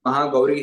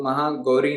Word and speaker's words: महागौरी: से जैसे अंत में महागौरी है तो महागरी नहीं महागौरी इस प्रकार से पूर्ण समय दे के इनका उच्चारण करना है पंचमम स्कंद माम कात्यायनी